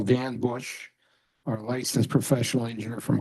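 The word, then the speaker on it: Busch: Can you please state your name and spell it for the record? So it's Dan Bush, B-U-S-C-H.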